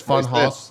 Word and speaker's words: Funhaus: That's how you say it, right? It's not Funhaus. It's Funhaus. Yeah, it's the fun.